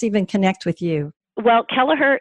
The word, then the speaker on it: Kelleher: connect with you well Kelleher is three syllables sometimes people spell it wrong because it's a hard word but it's it's Kelleher and that's a little